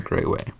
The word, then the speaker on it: Grawey: it is at Grayway. Yeah, and that is MICAHGRAWEY because nobody knows. It is not spelled like Grayway.